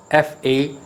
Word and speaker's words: facade: connected rooms in hotel sweet next word facade f-a-c-a-d-e apparently it looks as if fusaid or fuckade it is not for kade correct pronunciation of the world is facade stress is